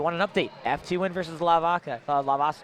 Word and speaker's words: Leviakittens: Now, if you want an update, FTWin versus Leviakittens. How do you say that? Leviakittens?